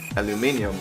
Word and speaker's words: aluminium: those names but yeah I am liking aluminium yeah aluminum aluminum uh it's still the same thing spelled the same way just pronounce differently depending on on where you are so they have actually